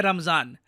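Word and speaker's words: रमज़ान: पूरा इलाका है ना, यहां पे हम लोग कहते हैं रमजान। वेराज जो अरब वर्ल्ड है और जो मिडल ईस्ट का बाकी पार्ट है, वहां पे वो लोग कहते हैं रमदान। तो प्रोनाउंसिएशन का फर्क है, बाकी रमजान Ramadan they are both the same.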